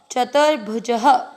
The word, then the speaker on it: चतुर्भुजः: में अमिक्स करना है, भुज, ज में अ की मात्रा, इसलिए विसर्ग को पढ़ेंगे ह, चतुर्भुजः।